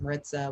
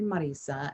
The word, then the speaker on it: Marisa: could pronounce it so my name is actually marisa and so you obviously